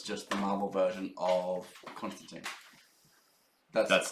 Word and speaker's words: Constantine: And also, you were pronouncing it the American way where he's British. It's John Constantine.